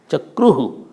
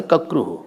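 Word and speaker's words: चक्रुः: You can't pronounce cha and ka. Chakruhu. You can't say kakruhu.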